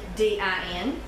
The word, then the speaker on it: lavandin: 0.3 ounce of camphor, 0.5 of Lavandin, and that's L-A-V-I-D-I-N. Or at least that's the way it's spelled there, but no, it's Lavendin.